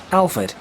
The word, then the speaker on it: Alford: And definitely the last part is Fud, though it's spelled Ford, but that is just a pronunciation thing.